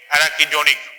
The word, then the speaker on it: arachidonic: Always pronounce the way I am pronouncing: linoleic, linolenic, arachidonic.